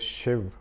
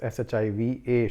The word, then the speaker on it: Shiva: So like my name is Shiv, but it is written as Shiva, Shiva, but it is pronounced as Shiv, So that's how it happens in English probably.